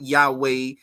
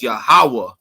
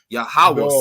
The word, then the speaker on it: Yahawah: That's how you say his name in the Paleo Hebrew. Not Yahweh, not Yeshua, not Jehovah. It's Yahawah. Yahawah.